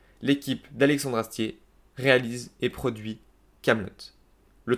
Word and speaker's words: Kaamelott: à à alexandre astier et 2 t à la fin pour que l'on prononce camelot et non pas camelot bref ils sont obligés